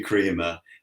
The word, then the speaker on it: Kremer: very pronounceable name Quinn mine tends to be pronounced all sorts of ways from Crema to crer to Crea um and it's actually Crea but anything on any radio interview anything almost